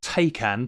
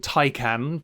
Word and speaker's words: Taycan: stuff some poor Porsche takan taan pronounce it how you wish looks like it's been opened with a can opener if if you want the pun uh this poor thing as you'll know tyan or pretty much every